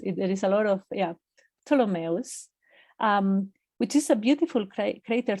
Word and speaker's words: Ptolemaeus: It's Ptolemaeus. Ptolemaeus. Because it's after the astronomer Ptolemy. But it's, okay. Yeah, that PT is tough. Oh, it's tough, yes. There is a lot of, Ptolemaeus, which is a beautiful crater to be looking at.